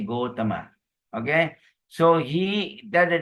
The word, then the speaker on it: Gotama: from the Gautama clan in Sanskrit Gautama but in Pali we say Gotama okay so he that